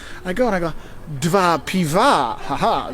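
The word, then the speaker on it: dwa piwa: go and I go DV Piva ha DV Piva which is two pivo because two beers because it change it the guy was so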